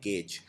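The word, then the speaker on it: gauge: अगला गेज करना, इसको प्रोनाउंस करते हैं गेज।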